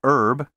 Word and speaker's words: herb: Don't pronounce the H in vehicle and herb, and don't say zoology or zoologist, as if these words had three O's.